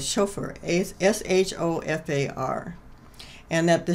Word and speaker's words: shofar: It's called a Sulfur, S-O-F, Sulfur, S-O-F-A-R, I think is how it's spelled. And so I went on the internet and I researched all the information about it. And I found out that the Jewish horn, it is called shofar, S-H-O-F-A-R.